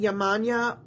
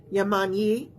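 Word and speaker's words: Yemanjá: some folks pronounce it yman some folks pronounce it yammani she's an African and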